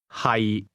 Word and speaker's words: 係: Hi. The difference is that to be is pronounced with a lowle tone and to be located is pronounced with a mid-risising tone.